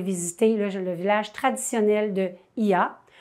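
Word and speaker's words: Oia: le village traditionnel de ia vous remarquerez que c'est écrit oh il y a mais la bonne prononciation cia alors nous allons dans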